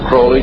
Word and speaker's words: Aleister Crowley: He likes to have his name pronounced Crowley to rhyme with holy.